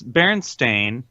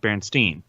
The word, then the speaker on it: Berenstain: that start Shaq also it's Berenstain but us being lazy Americans we pronounce it Bernstein that's just how we